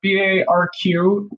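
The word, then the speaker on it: Barq's: I love Barks root beer. Barqs, I think it's pronounced.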